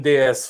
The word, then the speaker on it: DS: The DS, which was introduced in the late 60s, and DS with just the letters D and S and pronounced DS, which is French for goddess.